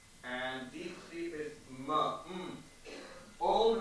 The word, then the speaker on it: Om: Om has three sounds. A, Oo, Ma. Om. Don't pronounce it as Om. The correct pronunciation is Om.